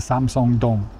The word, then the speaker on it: Samseong-dong: But just know that Samsung doesn't own this station, the company. They own a lot of stuff, but they don't own the subway station here. Okay, it's named for the neighborhood. This is Samsung Dong.